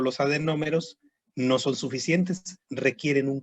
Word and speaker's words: adenómero: Adenómero, así como se escucha tal cual, adenómero. A-D-E-N-O-M-E-R-O, con acento en la primera O, adenómero.